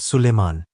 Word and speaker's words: Suleiman: phenomenon, but in India, Solomon is called Suleiman. That is the Indian pronunciation for Solomon.